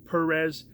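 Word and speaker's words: Pérez: Perez, like I said, it's an emphasis on the first E, he says.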